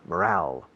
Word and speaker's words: morale: Escrito morale. Es como moral con una E al final. Y se pronuncia casi como en español, morale.